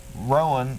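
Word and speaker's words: Rohan: Roan. Rowan, yeah.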